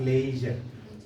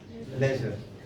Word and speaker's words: leisure: television vision television pleasure leisure not laser leisure entrepreneur and when it